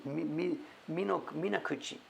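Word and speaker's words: 水口: The kanji is Mizu and Kuchi, but it's Minakuchi. And Tsuchi, soil, Yama, Tsuchiyama, another nice rain scene.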